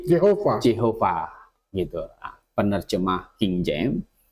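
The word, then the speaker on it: Jehovah: yang huruf mati semua Dikasih huruf hidup wah bacanya jadi Jehova Jehova gituah penerjemah King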